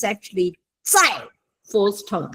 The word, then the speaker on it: 在: 对，我在老师 it's a Z, okay? It's a Z, not a C.